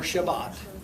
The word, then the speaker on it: Shabbat: Because their Sabbath begins at sundown on Friday and or Shabbat is pronounced in Hebrew.